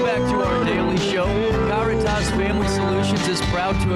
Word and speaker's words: Caritas: And uh I guess there's also maybe a Spanish pronunciation of it, but we go by the Latin pronunciation, which is Caritas.